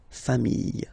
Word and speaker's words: familles: the plural form, les familles. Okay, remember, chien, singular form, chien, same pronunciation, but you put this s. Okay, final s not pronounced. Famille, singular form, famille, plural form, same pronunciation, s not pronounced.